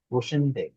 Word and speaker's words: Wochenende: wohin gehst du am Wochenende? ভোখেন আহ, এন্ডে, wo- এটা খ উচ্চারণ wochen করি আমরা, হ্যাঁ Wochenende, ভোখেন wohin এন্ডে।